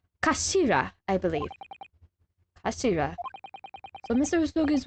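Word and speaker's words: 頭: up the damn sword it's written as head in Japanese but it's pronounced as Kashira I believe Kira so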